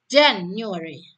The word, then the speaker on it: January: Jadi di apa itu huruf bulan itu Januari dan Februari ini bisa menggunakan pola ditekankan pada silabel awal ya. January, February.